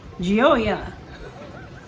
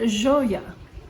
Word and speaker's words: Gioia: now in texas we probably said call that giolia geo-ea yeah but but if you want to pronounce it the correct way and i'm going